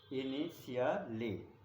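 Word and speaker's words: initially: आई एन ध्यान दीजिएगा ये इनिशली पढ़ा जाएगा इसे इनिशियलली इनिशियली पढ़ा जाएगा आई एन आई आई टी ध्यान दीजिएगा स्पेलिंग पे टी आई एल एल Y right.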